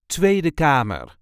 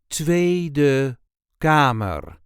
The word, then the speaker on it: Tweede Kamer: This is the way we say Tweede Kamer. Tweede Kamer. There is a light emphasis on the first syllable of the first word. Tweede Kamer.